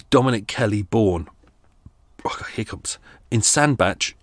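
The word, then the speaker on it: Sandbach: Kelly born hiccups in sand batch in Cheshire you can pronounce it sand back if you like as well question number three how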